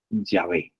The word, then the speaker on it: Yahvé: Bueno, según los estudiosos, incluso los mismos judíos, reconocen que la pronunciación más acertada o más cercana es el nombre de Yahvé.